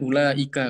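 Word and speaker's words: أولئك: Nah, ini kan dia hadaf, ya, ini tidak dibaca, ya. Bacanya kan ulaika, kan ini nggak dibaca.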